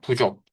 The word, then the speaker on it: 부족: 리얼은 서저처 앞에서 예 묵음되죠. 우리가 어 불 아닐 불자 써 가지고 불족이라고 합니까? 리얼을 빼야죠. 부족이라고 해야죠. 예. 부족.